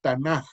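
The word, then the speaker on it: Tanaj: que se pronuncia realmente tan con jota al final es la pronunciación correcta es el conjunto de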